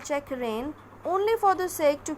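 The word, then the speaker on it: checkrein: This is not, the correct pronunciation is check rein. These two are homophones, like this one, rain.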